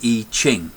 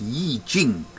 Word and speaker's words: I Ching: Today I'm going to give you a lesson about how to interpret the I Ching, or it's actually pronounced Yi Jing, I believe.